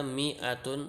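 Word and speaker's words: مائة: Karena mi'atun itu dibacanya mi'atun, tidak mi'atun. Karena alifnya itu tidak dibaca. Alif yang di tengah itu tidak dibaca. Ya, lihat alif yang ini tidak dibaca, yang di tengah ini tidak dibaca.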